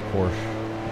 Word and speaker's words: Porsche: Then we approach the Porsche curves, however you want to pronounce Porsche. I usually leave that out of the end, as most Americans do.